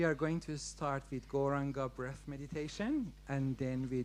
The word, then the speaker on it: Gauranga: So the mantra we are going to chant is Gauranga. It's got 4 syllables. Gauranga.